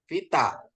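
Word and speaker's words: βῆτα: Ini tap ya Pak, bacanya tap. Bukan tahu ya? Bukan. Tap ya. Ini V. Vita.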